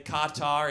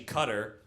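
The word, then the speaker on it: Qatar: Quatar, it's actually Cutter, you Islamophobic bitch.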